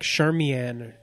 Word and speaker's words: Charmian: Even though they pronounce it oddly, like Charmian at different times. Well, they say a few different ways.